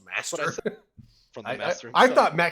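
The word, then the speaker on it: мастер: guess the Russian spelling is actually just as pronounced master. From the I master. I himself. thought MacTep meant master in Russian. Apparently, no, you just pronounce it as master. I didn't realize that. Everyone said MacTep because it's America.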